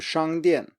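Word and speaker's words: 商店: And then finally we have 商店, 商店, which means store.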